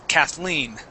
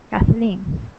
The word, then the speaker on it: Kathleen: this this name here it's pronounced with the accent at the end Kathleen Kathleen okay yeah so that's